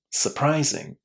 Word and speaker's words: surprising: Again, you can say the letter R inside this word. There's no problem and say surprising. Surprising. But whatever you do, this first syllable is going to be super short. So, please remember, don't say ooh inside this word because it sounds really, really bad when you do.